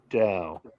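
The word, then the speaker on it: Tao: It It's spelled T AO, but it's pronounced Dao.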